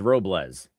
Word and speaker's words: Robles: It's like uh as if it was as if it was a Z at the end. So, it's Robles.